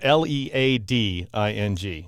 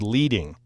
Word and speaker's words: leading: it before, it's spelled L-E-A-D-I-N-G. So it looks like the word leading, but it's actually leading because back in the hot metal type days, they'd actually use rows of lead to space the text.